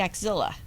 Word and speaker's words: axilla: that up okay the axilla I I don't know what that is okay it's a part of the human body it rhymes with Gorilla it can smell just